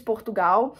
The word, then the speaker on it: Portugal: Portugal, Italy. I hate when I say Portugal like that because I know how to say it in Portuguese. Portugal. I hate saying it in English.